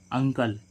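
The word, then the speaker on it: uncle: ऐसे ही हम देखें इसमें अंकल तो शुरू वर्ड का शुरू हो रहा है यू से और उस उसके बाद क्या आ रहा है दो व्यंजन एन और सी क्या है एन और सी दो कंसोनेंट है तो इसको हम क्या पढ़ेंगे ू का उच्चारण क्या आएगा आ तो इसको हम क्या पढ़ेंगे अंकल अंकल मींस क्या होता है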